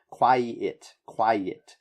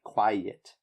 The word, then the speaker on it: quiet: Okay, so emphasize this I sound after the E sound. Quiet. And that will make it sound different than quite. Okay, it's very similar, but it's the I that makes the difference.